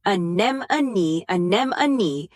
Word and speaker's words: anemone: Anem-a-knee, until it stopped feeling like a tongue twister.